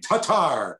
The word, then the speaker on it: Tatar: on the air now everybody wants to be tomasz tomash to targe they liked it better because chats loved when i said his name tatar so you know you